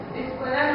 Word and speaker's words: escuela: So when we say escuela, that a is exactly the same as the a in normal.